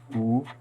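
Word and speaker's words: 武: So we I choose this word martial, which pronounced wu.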